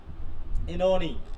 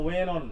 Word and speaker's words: Oenone: কিন্তু আজ তাহলে আমরা চলে যাব হচ্ছে ইনোনি, তাই তো? বা ওয়েন অন, কেউ অনেকবার দুই ভাবে উচ্চারণ করে, এটা তোমার যেভাবে হোক বানানটা ঠিক রাখলেই হবে, ঠিক আছে?